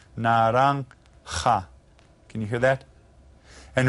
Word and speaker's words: naranja: The J is pronounced like an H again. Naranja.